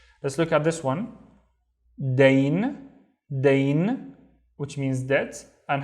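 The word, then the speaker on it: دين: Dain, which means debt. And how do you think we pronounce it?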